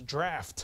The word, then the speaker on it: draught: your nets for a drought but it's not drought anybody know how that's pronounced it's draught and if you don't trust me Alexander Scourby